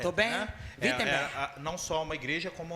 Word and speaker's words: Wittenberg: Pronúncia em alemão é com ele. Como é que é? Eu quero falar. Se diz Wittenberg. Wittenberg. Essa é a pronúncia correta. Tô bem? Né? Wittenberg.